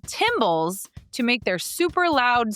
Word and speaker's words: tymbals: Male cicadas vibrate special body parts called tymbals to make their super loud summer songs. So not cymbals like in a band, tymbals, spelled the same but with a T instead of a C.